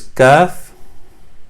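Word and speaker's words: كاف: It's a simple K. So kaf is the same sound source on the top of the throat, but it's not very stressed. It's very easy sound. So kaf or K, just like that.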